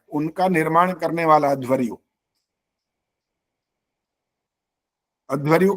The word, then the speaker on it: अध्वर्यु: इसके बाद है छठा नंबर इसको बोलते हैं अध्वरयु अध्वरयु का असली मतलब होता है यजुर्वेद के